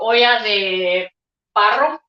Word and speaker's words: olla de barro: I'm using a terracotta pan or olla de barro, which is how it's pronounced in Spanish.